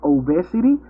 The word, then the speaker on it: obesity: was pronouncing obesidad like obesity. But there's somebody told me no, but it's not obe, but it's obesity, obesity, because it comes from obese.